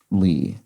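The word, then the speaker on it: 李: character for Plum and on the third intonation that is pronounced Li and I am I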